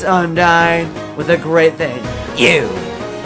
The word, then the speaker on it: Undyne: Wait, is that nya or I don't know how to pronounce that. I said G next to an N. What does that mean? Yeah! It's Undyne with a great thing.